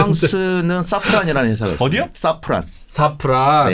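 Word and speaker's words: Safran: 사프란. 사프란. 예. 그 섬유유연제 아닙니까? 뭐 같은 거의 샤프란. 사퐁이라고 뭐 발음을 하더라고요.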